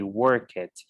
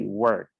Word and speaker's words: worked: right so remember that it is a big huge mistake to say work it that's not possible we have to say worked worked okay the same thing